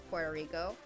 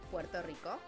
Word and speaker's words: Puerto Rico: Because in English, it's Puerto Rico. And in Spanish, it's Puerto Rico. And in the middle, it's just Puerto Rico.